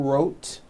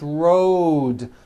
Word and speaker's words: road: with a voiced d Road also has a voiced d ending Road it's not wrote unvoiced It's Road the whole word is voiced